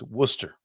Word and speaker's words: Worcester: r so I would say it right it's Worcester so Bobby taught me how to say it